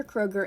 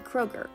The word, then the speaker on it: Kroger: In American language, the umlaut does not exist, so the name became Kroger. Many people mispronounce the name. Instead of the OE sound the umlaut makes, they pronounce it like Kroger.